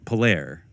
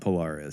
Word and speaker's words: Polaire: It's probably more like Polaire. Yeah, Polaire. That's how it would be pronounced. Yeah. Polaire. Yeah, Fraternité Polaire. That's probably what you say. Yeah, exactly. Right. Not Polaris.